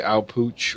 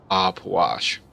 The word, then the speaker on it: Ah Puch: have about this god I'll wash I know most people will say I'll pooch or something like that but it's actually I believe pronounced op wash so not going but